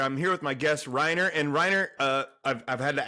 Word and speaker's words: Rainer: So it's Reiner.